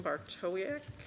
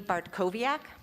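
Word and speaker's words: Bartkowiak: person on this list is bartowick and please i'm so sorry if i mispronounced your last name okay if you say it for me i will try i'll try to remember after 20 some years of marriage uh my name is bartkoviak and i have three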